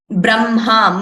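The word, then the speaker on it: ब्रह्म: We learned how this has to be pronounced as Chinham, Nha, Brahma, M first and then Ha.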